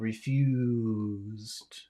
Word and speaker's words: refused: really what we're refused is that really an S no is a it refused yeah so this is long for two reasons it's long because it's the important syllable but it's also long because of the Z sound so that should be